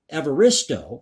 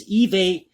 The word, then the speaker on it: Evaristo: Booker Prize winner Bernardine Evaristo, I believe I'm pronouncing that correctly, it's Evaristo, called such censoring ridiculous, while author and comedian Dawn French was appalled.